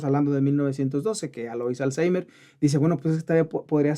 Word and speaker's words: Alzheimer: ¿La forma correcta de pronunciarlo entonces es Alzheimer? Bueno, es correcto decir Alzheimer.